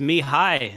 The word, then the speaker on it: Mihai: No, it's pronounced Mihai, and he's playing against Classicpro in the Gold League.